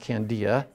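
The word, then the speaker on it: candelilla: get candia wax would be it's c-a-n-d-i-l-l-a but pronounced candia mexico all right all right so now the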